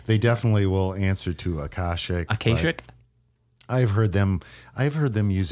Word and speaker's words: Akashic: can do on this podcast is help me pronounce the name of your publishing house who's putting out this book. Is it Akashic? You know, I think they answer to anything. I tend to call them Akashic in my Midwestern nasally way, but they definitely